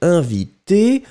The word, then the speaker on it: invitée: Émilie est invitée on ne le prononce pas, mais on doit écrire le féminin et e.